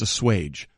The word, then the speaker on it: assuage: The actual pronunciation of the word is assuage, not...